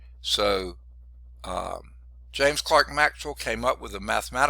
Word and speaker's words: Clerk: scottish physicist named james clark maxwell now it's spelled like it's c-l-e-r-k it looks like it's clerk maxwell it's actually james clark maxwell came up with a